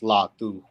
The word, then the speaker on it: Latu: So Cameron Latu is pronounced Latu.